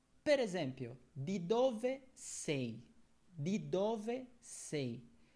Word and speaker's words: di: Di dove sei? Primeiro, uma coisa sobre pronúncia, di, na ponta da língua, di. Di dove sei?